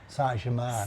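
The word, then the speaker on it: Saint-Germain: Sanjaman.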